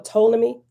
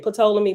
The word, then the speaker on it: Ptolemy: a i c or ptolemy some people say patola me but the p is silent ptolemy or the ptolem